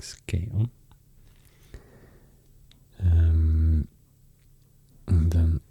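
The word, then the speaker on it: Skåne: the other side skon that's so funny because I would say Skagen in Swedish but I have learned now it's pronounced a bit or quite a lot difference to what I would expect you say something like SC on um and then R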